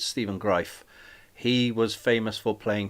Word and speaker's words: Greif: Stephen greif I used to think it was grief because it spelled like grief but it's Stephen greif he was famous for playing two characters uh